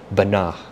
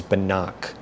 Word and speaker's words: Banach: just heard that I tried to correctly pronounce Banach, which is different from how I did in that video, which is Banach, right? CH as in chord, let's say, as in the chord of a circle, chord on an instrument, musical instrument.